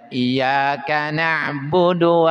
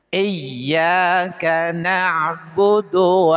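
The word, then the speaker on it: إِيَّاكَ نَعْبُدُ: Jadi di dalam ianya itu harus pakai tasdid ya. Jangan bacanya iyaka na'budu wa iyaka nasta'. Itu kan tasdnya enggak ada. Maka tekan iyaka na'budu tekan aja. Iyyaka na'budu wa iyyaka nasta'.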